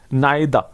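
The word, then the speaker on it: neither: उसके बाद rule number 5 है, देख लीजिए, यदि दो सब्जेक्ट को नाइदा, इसमें आर साइलेंट होता है, नाइदा, नोर, आइदा और, नोट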